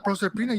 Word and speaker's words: Proserpina: And Is I it think that's what- Proserpina? Proserpina, yeah, Proserpina.